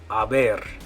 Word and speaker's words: haber: Haber. Okay, those sound exactly the same, haber and haber, but they don't mean the same thing. The first one, haber, the one with the H, the silent H, that one means to be.